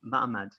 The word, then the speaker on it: ma'amad: spelled without an h it's spelled with an ein it's m ein md that's like that would be like m-a-m-d mahmad very interesting because this